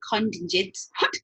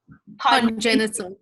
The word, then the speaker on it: congenital: Is it contingent? How do you say it? Congenital. Congenital, yes, that's the word.